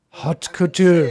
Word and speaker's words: haute couture: Haute couture.